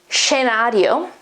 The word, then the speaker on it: scenario: oh bravo fiasco scenario in italian the pronunciation is genario at the beginning it should be like a sh okay and it's a